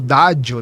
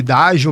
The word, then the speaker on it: Daggio: Então, esse nome também traz essa essa pronúncia mais italiana, que pode ser falado como dádio também, né? Mas aí a gente leva mais para para essa linha de raciocínio de dádio mesmo, que também tem o